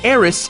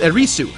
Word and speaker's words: Aerith: Aerith is called Eris in the English version of the game, but that's only because that's how the Japanese pronounce the name with the TH spelling. That way, they avoid people saying her name as Erisu, which is definitely not it.